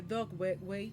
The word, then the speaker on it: Dugway: The Dogway Plays, porque él estaba en la base de Dogway, que se escribe Dugway, y ahí empieza a